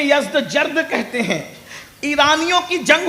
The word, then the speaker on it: یزدجرد: اس کا بیٹا تھا جس کا نام تھا یزدجرد, اس کو یزدگرد بھی کہتے ہیں ایرانی لب و لہجے میں, عربی میں یزدجرد کہتے ہیں.